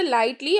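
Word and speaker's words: lighttpd: Next, light TDP pronounced lightly also free web server.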